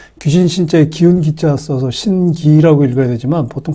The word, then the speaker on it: 신기: 보통 이제 한문은 귀신 신체의 기운 기자 써서 신기라고 읽어야 되지만 보통 발음할 때는 덴 발음을 하죠 그래서 신기라고 이제 발음을 하는데 보통 우리가 신기 그러면 불가사인한 어떤